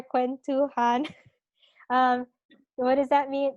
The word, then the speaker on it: kwentuhan: that finishes our um how do you pronounce it k-w-e-n-t han okay so that finishes our quen too han um what does that